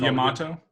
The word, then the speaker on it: Yamato: This is the Yamato. Yamato. I'll check out Yamato. It's spelled like tomato, except with a Y and an O, or Y and A at the beginning.